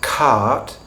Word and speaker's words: cart: What that means is that if you take a word where you have an R coming after a vowel, as in bar, we don't pronounce that R under normal circumstances.